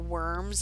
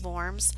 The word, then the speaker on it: Worms: They had called him to the Diet of Worms, or Worms as it looks like it's spelled, but it's pronounced Worms, to try to get him to recant.